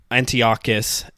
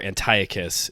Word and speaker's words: Antiochus: In the meantime, Antiochus, as you say in Hebrew, or Antiochus, if you go with the Greek pronunciation, he like desecrates the temple, just brings it down.